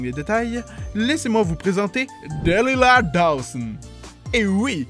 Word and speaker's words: Delilah Dawson: détails, laissez-moi vous présenter Delilah Dawson. Et oui, il faut le prononcer à l'américaine.